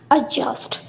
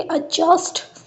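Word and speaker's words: adjust: जैसे कि हमारे पास वर्ड है एडजस्ट। इसमें देखो डी और जे दोनों को कंबाइन करके जा साउंड प्रोनाउंस की गई है। वर्ड की प्रोनाउंसिएशन होगी एडजस्ट।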